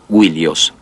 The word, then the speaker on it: Ilios: Troya y frecuentemente Ilios, originalmente pronunciada Wilios.